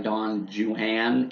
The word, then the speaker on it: Don Juan: of Don Juan or really I guess I should say Don Jan if you pronounce it like he tells us to pronounce it in the work um I think I